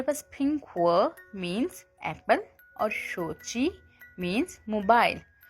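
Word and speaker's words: 小米: इसको हम चाइनीस में कैसे प्रोनाउंस करेंगे। Xiaomi शोची Xiaomi शोची।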